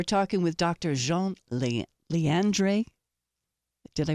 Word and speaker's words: Leandre: quick break we're talking with Dr Jean Le LeAndre did I pronounce it right yes you did okay thank